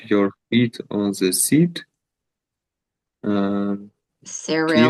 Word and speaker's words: Cyril: Cyril. Kirill?